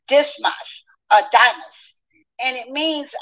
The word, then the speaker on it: Dismas: um in Rome and that name um is pronounced dismas a damus and it means um the sun